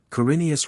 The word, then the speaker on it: Corineus: Rhyming with thrice, Corineus rhymes with Flaminius, Galing with sailing, Lafarise with desire ease, Ch is always guttural, as in Locke.